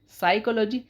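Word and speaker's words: psychology: साइकोलॉजी इसमें P silent है। P silent होने की वजह से इसको बोला जाता है साइकोलॉजी।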